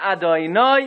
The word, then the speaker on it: Adonai: Hashem's name has to be pronounced Vayomer Adonai Imna Matzah Sichein Beinecha Al Nas Harmei Avdecha. Otherwise, you're not saying the name of Hashem.